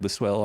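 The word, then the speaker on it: Listowel: it's from L listell that's how you say it lisell Ontario small Ontario town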